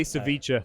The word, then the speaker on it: ceviche: You just say ceviche. Ceviche. Like whatever. Like you're just pronouncing it the way it looks.